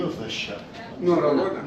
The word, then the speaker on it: Norröna: Norröna. Norröna.